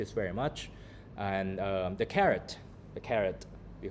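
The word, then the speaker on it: caret: like the vegetables because they didn't know it's a different word but it's pronounced the same.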